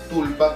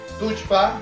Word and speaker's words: Tullpa: Tulpa, como lo pueden leer todos. Tushpa, como les decimos, pero que tiene que ver con el quechua cusqueño, ¿no? La pronunciación es cusqueña.